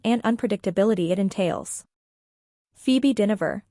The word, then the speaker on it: Dynevor: It's true, laughs Dynevor, pronounced Dynevor.